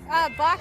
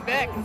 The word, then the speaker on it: Bock: Bock actually is German for goat. Okay, ein Bock, ein Beck is how people from Munich pronounce.